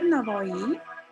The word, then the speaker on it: Navoi: Alisher Navoi is spelled in differently. In Uzbek we say Navoi. In English people use with W as well. So both are correct.